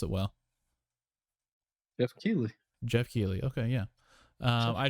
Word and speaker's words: Keighley: for me alright so next up uh joff kiely god do i always pronounce isn't the last name wrong keely k how do you pronounce that steve you pronounce it well jeff keeley jeff keeley okay yeah i'd just like to